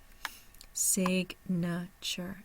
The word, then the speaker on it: signature: UR as one sound signature and there's your phonetic notation for Signature we'll also see in this phonetic notation that the primary stress is on the first syllable Sig and I do not